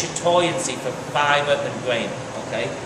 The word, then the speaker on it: chatoyancy: word for that is chatoyancy okay it's uh or the French pronunciation is shat okay and basically it's basically